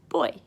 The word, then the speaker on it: voy: I go in Spanish you literally just say boy so it's like girl or boy it spelled vo y but you put out sit boy because in Spanish they pronounce their visas B's so for example if